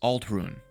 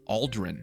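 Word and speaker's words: Ald'ruhn: north we come across Al run which I guess I'm mispronouncing because they call it Aldren Aldren ald anyway this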